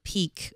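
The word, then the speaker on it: PIQ: uh what can you tell us about the peak and tell me if it's the peak or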